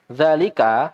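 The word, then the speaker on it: ذلك: Zalika, meskipun tulisannya seperti itu, dia za-nya dibaca panjang ya.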